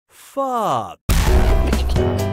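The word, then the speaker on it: phở: The preferred answer is, this delicious soup is pronounced pho.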